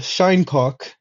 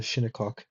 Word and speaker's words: Shinnecock: There's the Shinecock, as I like to call them, or the Shinnecock, probably is how you pronounce it.